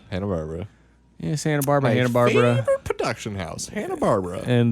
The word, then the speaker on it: Hanna-Barbera: incorrect thank you coming in i candidly mentioned hanna-barbera the other day but he pronounced it I'm Santa Barbara hanna-barbera yeah I need to get to me